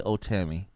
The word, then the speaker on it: Ohtani: and go all in on my man Shohei Ohtani. So, first of all, let's pronounce his name right.